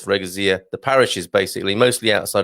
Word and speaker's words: freguesia: Specifically, 19 do you say freguesia? I know some people like to pronounce this as freguesia. I'm sure it's freguesia.